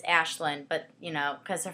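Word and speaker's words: Aislinn: i know that um it's spelled a-i-s-l-i-n-n so it's like aslin i when i first thought i was like athlean i was like isn't that the lion and narnia like and i'm gonna be thinking of like a talking like teddy bear like what am i doing uh so no but it's ashlynn but you know because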